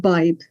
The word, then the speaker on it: Badhbh: name again it's uh it's spelt b-a-d-h-b-h there's there's different spellings but it's pronounced by um so uh and